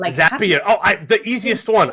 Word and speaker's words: Zapier: global head of talent strategy and operations at Zapier. How did I do on the pronunciation? First and foremost, you did great in the pronunciation, but it also is Zapier. Like Zapier.